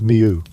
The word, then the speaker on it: mjw: The resulting word is written in transliteration as MJW, and the standard modern pronunciation, reconstructed through comparison with the Egyptian languages descendant Coptic and Cross, referenced against Greek and Semitic loan records, is miu.